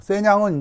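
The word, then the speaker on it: 咸陽: 세냥은 이제 함양의 중국식 발음입니다.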